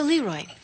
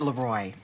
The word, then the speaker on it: Leroy: So, Leroy. Actually, it's pronounced Leroy. It means the king in French.